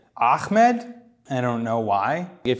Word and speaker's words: Ahmed: entire life it's understandable they just can't pronounce it I guess turn it into a k I don't know why they turn into okay like I've literally heard Ahmed like where is coming from it's an H but when I did